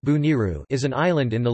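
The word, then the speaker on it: Bonairu: Bonaire, pronounced or Dutch Bonaire, pronounced Bo-N-R, Papiamento, Boniru, pronounced Buniru, is an island in the Leeward Antilles in the Caribbean Sea.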